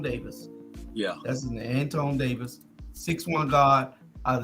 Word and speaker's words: Antoine: to go with the young man Anthony and Antonio and no it's Antoine antonome thank you um